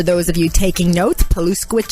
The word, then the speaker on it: Paluszkiewicz: I'm your host, Paluszkiewicz, and for those of you taking notes, Paluszkiewicz is spelled the exact way it sounds, Paluszkiewicz.